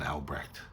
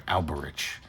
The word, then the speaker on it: Alberich: He mentions to Woton about the incident with the Rine Maidens and Alrech, I'm sorry, Alberich. I've been saying it wrong the whole time.